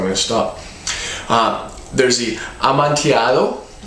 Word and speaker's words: Amontillado: I have it written down under the camera just so I can pronounce it for you. Amontillado.